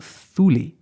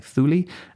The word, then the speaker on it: Thule: The Greek and the English pronounce it with a soft th, that's why I'm saying Thule, and the Danish pronounce it with an initial hard t, so Thule.